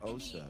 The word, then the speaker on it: Asa: She said her name is pronounced Osa.